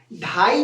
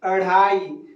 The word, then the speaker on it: अढ़ाई: इसको ढ़ बोलते हैं ढाई जो बोलेगा गलत उच्चारण कर रहा है अढ़ाई अढ़ाई और ढक्कन नहीं बोलके